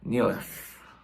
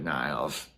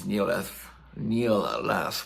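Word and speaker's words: Nilles: I called her Annika Niles in the last video, and I apologize. The last video I did about this, my defense, I saw her name pronounced that way in an American drum company video. But apparently it's Nealis, which is kind of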